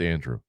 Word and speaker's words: Andru: do I pronounce it it's just Andrew like mine a and d r u though instead of a and d r e w so Andrew you see people call